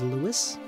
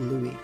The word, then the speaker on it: Louis: Most everyone I know pronounces it as Lewis. That's what I fig I figured Lewis would be the normal pronunciation. So, I decided to go with Louis cuz that's my own.